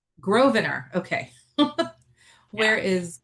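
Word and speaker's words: Grosvenor: The S is silent. So, it's Grovener. Grovener. Okay. Where is Grovener Gardens located?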